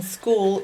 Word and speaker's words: school: Now the k sound could be a K or a C, but in school it's a C, but it's also an H, which is really, really weird. Sk, ooh, ooh. And in this case, the ooh sound is a vowel team of double O's. We'll learn about these vowel teams later. Sk, ooh, la, la. So you got a lot of things going on here in the word school.